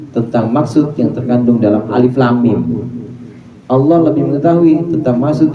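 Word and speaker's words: الم: Alif lam mim itu bacanya alif lam mim. Jangan alama per alama.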